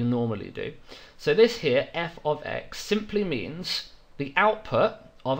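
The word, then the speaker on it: f(x): brackets like this and we would pronounce that as f of x that's how you read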